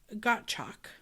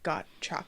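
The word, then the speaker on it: Gottschalk: Um, which I do think I wouldn't know to pronounce it that way because there is an S in there and I'd probably say gotch personally. Yeah, it might be gotch, but Percy's thinking like got chalk like he's sure out of it.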